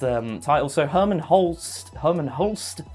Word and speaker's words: Hermen Hulst: title so Herman Hol Herman Holst mhm that is the correct pronunciation Herman Hol is is